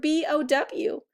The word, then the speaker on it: bow: But beware, because the word BOW can be pronounced 2 different ways. It can also be pronounced bow, like take a bow after the performance. That's because OW makes 2 different sounds. It can say O, like in bow, or ow, like in bow.